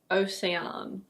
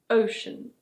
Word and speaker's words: ocean: This one is: ocean. It's not "o-say-ahn". In British English it's: ocean. Ocean.